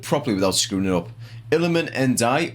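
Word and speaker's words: Iliman Ndiaye: Iliman Ndai, or Njai, as some people have been saying for some reason, even though it's a D, not a J.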